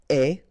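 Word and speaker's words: aie: And avoir will become est. Remember the final E is not pronounced, so you only have this AI sound, est.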